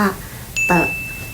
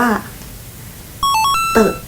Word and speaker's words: 得: แล้ว ก็ เต๋อ แต่ ทุก คน รู้ ม ว่า จริง ๆ 3 คำ เนี้ย อ่าน ห เสียง เหมือน กัน ทั้ง หมด เลย นะ นั่น ก็ อ่าน ว่า เตอะ นั่น เอง ค่ะ แล้ว ทำไม คน